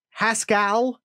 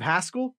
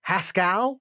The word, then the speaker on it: Haskell: with pascal it was haskell garrett instead of haskell it was haskell like it rhymes with pascal it was really disconcerting